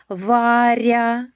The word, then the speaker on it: Варя: Варя. М'який приголосний р перед буквою я.